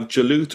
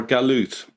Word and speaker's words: Jalut: Now, it depends where you go in the Middle East. You can actually pronounce the letter either as a J or a G. For example, if you go to Egypt, they still pronounce it Galut.